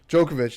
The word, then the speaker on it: Djokovic: probably wouldn't get smoked by um i can't pronounce djokovic djokovic there you go um she probably want to